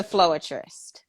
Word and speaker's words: Floerist: i'm kind of mad so how do you pronounce your stage name it's the floatrist okay awesome awesome awesome so what made you